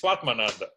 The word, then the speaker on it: Svatmananda: Did I say it wrong? Slightly, but it's Swatmananda. Swatmananda.